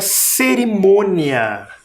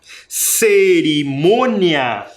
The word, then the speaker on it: cerimônia: que é o c cerimônia cerimônia também tem sílaba tônica esse som é diferente desse som devido ao acento um acento É nasal parece que sai pelo nariz o som Mia o outro